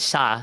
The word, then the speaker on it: siya: it's the Tagalog word Sha. Like it's spelled Siya, but it sounds like Shah. You know, like Shaws of Sunset.